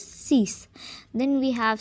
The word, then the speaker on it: six: 6 has the same spelling as in English, but the pronunciation is different, and that is six.